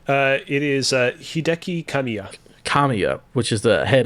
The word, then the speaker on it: Hideki Kamiya: would say it wrong uh it is uh Hideki kamiya kamiya which is the head of platinum games